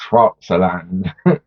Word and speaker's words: Pfälzerland: Yeah, Pfälzer, because I'm English. Like the Germans, they're able to mold that P and F together into like one sort of syllable. But for me, it's Pfälzerland. Pfälzer.